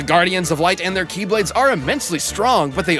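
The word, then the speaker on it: χ-blade: he means the x-blade it's just pronounced like keyblade even though it's just one keyblade ah the series is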